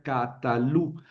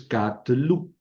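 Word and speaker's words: קָטְלוּ: ¿Por qué no sería catalú? Ah, ven, porque aquí eh cuando yo añado un sufijo al verbo por la conjugación, ¿verdad? La vocal de la última sílaba se elida y se convierte en shev. Entonces, catlu catlu.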